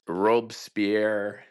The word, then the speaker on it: Robespierre: you but when a revolution happens whether it's Robespierre how do you pronounce it robespier robier Robespierre robier the heads